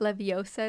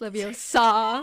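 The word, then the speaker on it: Leviosa: Potter and it's Le it's not levosa it's Leos saw like I know exactly it matters where the pronunciation is in the syllable where do you emphasize yeah um okay so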